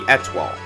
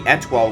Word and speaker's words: étoile: with her instrument, the étoile. The étoile is based off a Chinese instrument called the guzheng and pronounced the same way as the French word for star.